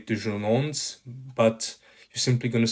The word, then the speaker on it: déjeunons: Déjeunons, let's have lunch. Faisons vite, let's make it fast. And remember that the final S is silent. So you're not going to say déjeunons, but you're simply going to say déjeunons, faisons vite.